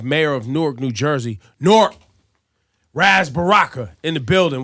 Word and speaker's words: Newark: is one syllable now. It's not Newark anymore. It's always Newark.